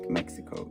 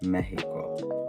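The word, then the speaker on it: México: a j actually also x in Spanish is pronounced differently so Mexico is not Mexico it's Mexico and then there the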